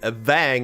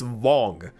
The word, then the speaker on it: Wang: Like, for example, the character, as we all have jokingly pronounced him, Wang, is pronounced Wong, which means the A should be with a hyphen or something on top of it.